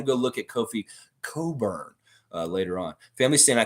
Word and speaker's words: Cockburn: it coburn lex um only a guy named cockburn would tell you i don't know it's coburn yeah it's coburn that's the normal pronunciation for that name the people that are